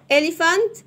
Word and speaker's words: elephant: إليفانت فيل. البي اتش هنا تتنطق في.